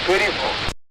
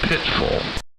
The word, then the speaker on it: Pitfall: You said pitiful, and I said pitfall, but that was incorrect. It was Pitfall.